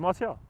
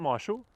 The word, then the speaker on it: Martial: Martial? Terry Henry, Marshall. No, it's Martial. It's not Marshall.